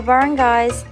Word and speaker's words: barangay: These were known as the barangays, pronounced as barangay.